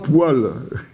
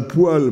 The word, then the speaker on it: poêle: le seul je crois c'est les trois poils alors j'ai bien dit les poils il y a effectivement la poêle bon celle dans lesquelle